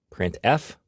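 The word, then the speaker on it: printf: these three are the most popular they are pronounced print F put car and puts each function is designed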